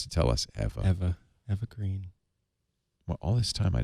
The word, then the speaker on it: Eva Green: called nightfall hello hello Eva my name is evergreen ever sorry wait a minute wait a minute it's pronounced evergreen oh no Angie I had no idea evergreen she's one of